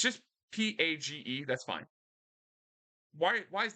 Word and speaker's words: Paige: paper no no no you got to put the eye in in there but it still pronounced page but now there's an i in there doesn't need to be